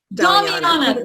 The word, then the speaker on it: Damiana: I can't even pronounce this one, but the Damiana. Damiana, thank you so much.